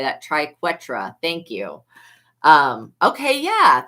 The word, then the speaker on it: triquetra: Triquetra.